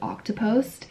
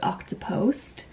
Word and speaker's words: Octopost: work for is named octopost and it's spelled like it's pronounced like octopus but octopost because we're a social